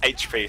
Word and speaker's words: HP: The scout on ownage squad is pronounced HP, so I will call him by that. Yeah, just like the letters.